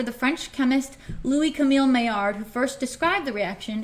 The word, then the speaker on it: Maillard: I know if you can read that, it's spelled Maillard, which is funny. It's a funny word. It was a guy's last name, like the guy who discovered it, but I'm pretty sure he was French. So Maillard is how you say it, and it's weird. Yeah, someone said mill something, so yeah, you're close.